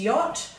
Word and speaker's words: yacht: yacht so we've got now we know after a w a w h or a q u we're allowed to use an a for the o sound and that also applies after y but the only word that it works with is yacht so that's why i've